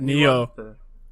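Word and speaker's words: Nioh: I was playing it quite a bit while watching him play Neo? Nio? How do you say that? Neo. Neo, yeah.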